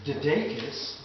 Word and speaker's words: DeDakis: We pronounce it DeDakis, the long A.